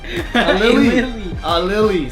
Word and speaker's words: Aleali: Aleali.